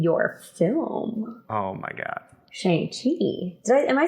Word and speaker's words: Shang-Chi: make sure we all know how we actually pronounce the title of yourself yeah um i would say shanxi um i think you are extraordinary in it